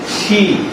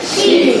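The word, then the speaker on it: she: মেয়েদের ক্ষেত্রে কি হবে শি কি হবে শি সরাসরি সি বলা যাবে না উচ্চারণ হবে শি কি হবে শি আবার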